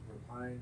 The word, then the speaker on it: repine: Repine. As to not repine or raping, however you want to pronounce it. Repine, raping. Repine. Let's say repine.